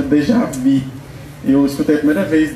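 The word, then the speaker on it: déjà vu: Eh, esse termo de javu, dejavu, ele assim, tô tô falando as pronúncias, né? Mas assim, esse termo é um termo francês que ele vem do, ele chama Dejavi.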